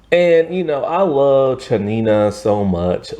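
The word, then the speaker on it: Tsianina: varia is played by chanina Jolson and so like it's fine because her name is spelled with a t like her name is spelled t-s-i-a-n-i-n-a and that doesn't look like chanina and everything but hey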